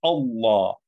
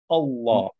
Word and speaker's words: Allah: as well uh-huh so if you were just working looking at the word allah on its own is a slightly different sound with a law a law but because the previous word dismiss the is leading into it you say bismillah so because it's starting with the if sound you say but you know on its own it would be a law and there's a slightly different tone to the to the l one is like a